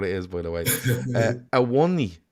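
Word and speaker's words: Awoniyi: is by the way awani is Tara says a one knee is how you say it um I don't know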